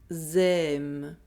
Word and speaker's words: aiment: For all verbs and all tenses, the ending ENT is always silent. Ils aiment.